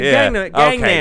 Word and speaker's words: Gangnam: Oh, fucking Gundam Style bullshit. Yeah, Gundam Style. Psy. Gangnam. That's K-pop. Not Gundam Style.